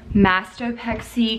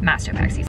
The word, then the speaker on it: mastopexy: Okay, so I wanted to talk to y'all about my mastopexy consultation.